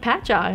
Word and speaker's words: Patchogue: do you pronounce like Patchogue I'm like well it's a patch and then AAG which really like throws them off but yeah just so